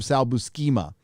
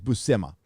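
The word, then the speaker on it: Buscema: pronounce his last name i used to call him sal buschema but i think it's bussema uh salbo sema's run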